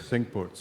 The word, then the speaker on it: Cinque Ports: My dad and I played, and I'm gonna butcher the pronunciation. Royal, is it Cinque Ports? Cinque Ports.